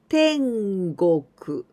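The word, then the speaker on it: 天国: be tropical countries adding this kanji then we pronounce tengoku tengoku is paradise with this kanji go we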